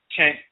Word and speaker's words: Chen: In this particular instance, it's the Ch sound, so it's Chen, and that E is nasal as well.